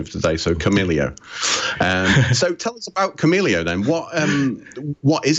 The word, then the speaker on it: Kamailio: and so you know I'll say common ilio and and that's the way I'll choose to to refer to it excellent all right well I'll follow your pronunciation of today so camellia camellia then what what